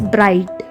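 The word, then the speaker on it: bright: ऐसे ही ये ब्राई, ब्राई GH साइलेंट है तो T पढ़ेंगे, बस ब्राइट। नेक्स्ट है क्विक, QU क्वी, CK को क, क्विक।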